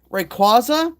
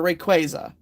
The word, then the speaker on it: Rayquaza: Um, okay, Rayquaza or Rayquaza?